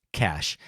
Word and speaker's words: Cache: Cash may perhaps be too demure to weigh in himself, so I wanted to let you know his name is indeed pronounced Cash, and his letterbox handle is Cash Eel, so CACHEELL.